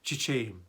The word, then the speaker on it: çiçeğim: yüksek yerlerde açan çiçeğim Burada yine çiçeğim derken ğ dikkat edelim çiçeğim iyi Ğ yi bastırarak ifade etmiyoruz düşürüyoruz Bir önceki sesli harfi bir ses uzatıyoruz çiçeğim şeklinde telaffuz ederiz senin altında doğdum senin